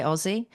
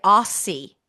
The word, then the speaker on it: Aussie: By the way, Americans can't say Aussie. I know that's totally off totally offbeat today, but Americans say aie. Yes. Yeah. Oh my god, you're an aie.